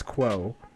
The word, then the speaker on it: Kuo: He was known as Status Quo, because that's how you pronounce his last name.